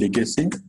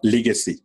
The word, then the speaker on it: Legacy: ওকে, contribution আমরা যদি বলি লিগেসি, Legacy. দেখেন আমরা এটাকে বলবো লিগেসি। ওকে, লেখা আছে লিগেসি কিন্তু উচ্চারণটা হবে কি লেগেসি, লে। Legacy. ওকে, তাহলে লর শিকার হবে না, উচ্চারণ হবে ল একাল লে, লেগেসি।